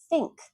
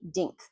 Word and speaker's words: think: So think should never be dink or zinc or tink. Those are not, well, okay, zinc is a word, but it's a different word. It's not what you're trying to say. So you have to say think. That TH has to be there.